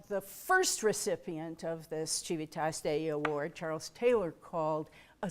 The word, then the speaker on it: Civitas Dei: of those areas where the pronunciation of the C in Latin is much disputed. But I like the Italian, like Civitas Dei, that's very nice.